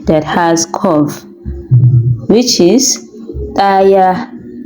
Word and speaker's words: ɗaya: has curve, which is daya, daya, the right pronunciation. Well, for the spelling of four, we use the D that has curve, hudu, hudu, which is the right pronunciation.